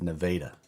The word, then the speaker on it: Nevada: If you're from Missouri, it's not Nevada, Missouri, it's Nevada.